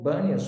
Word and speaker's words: Banias: ind de pan e como que no árabe não tem eh o p ficou banias ou banias então Essa